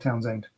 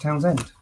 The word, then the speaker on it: Townshend: uh sarah you're right the h is silent the way so just pronounce plain old town's end yeah so it's pronounced